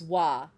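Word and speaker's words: は: Because sometimes you pronounce ha as wa.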